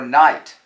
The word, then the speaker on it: knight: eating the fajitas in Juarez k is for night the noble knights knife nicked the knaves knee